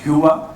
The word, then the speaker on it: Hyvä: We call it Hyvä in India, just for pronunciation, but its actual pronunciation is Hyvä.